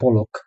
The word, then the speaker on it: পলক: আপনাকে বলা হবে বুকসটা বিয়ারেন করতে, অর্থাৎ বানান করে করে বলতে। ধরেন আপনি শুরুতে বলছেন পলক, কিন্তু সেই জার্মান লোক বুঝতে পারেনি।